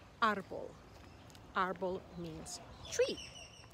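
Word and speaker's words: árbol: vocabulary a as in arbol arbol arbol means tree the accent is on the a and so we emphasize that syllable and we say arbol what about the word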